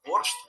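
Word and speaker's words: борщ: цей обмін був двосторонній ціла Європа вимовляє боршт бо в їдищі це слово читається Саме так упродовж своєї історії українська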